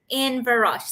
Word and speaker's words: Inverroche: Is Inverroche? Inverroche, that's correct. How many variations of the spelling, the pronunciation of this beautiful shine?